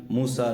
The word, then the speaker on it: موسیٰ: سین اور یا، اور اس کو موسیٰ پڑھتے ہیں، موسی نہیں پڑھتے، یعنی اس کی یا کا تلفظ نہیں ہوتا، یا کے بجائے الف کا تلفظ ہوتا ہے۔ لیکن اب اس کا